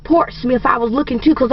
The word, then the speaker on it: Portsmouth: i see out here will partying and it's part's mouth he said that's it i said parts now i said he said no there's people in virginia pronounce it portsmouth i said but smith is spelled s-m-i-t-h go